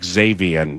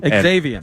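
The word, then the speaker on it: Xavion: able to pronounce uh I think I'm just going to go with Xavian Valet. Uh it is that's what it is. Xavian. Xavian.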